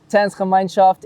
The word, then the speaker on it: Gemeinschaft: And he is the host of Africa Distinct for Gemeinschaft. Did I say it right? Yeah. Gemeinschaft in Belgium.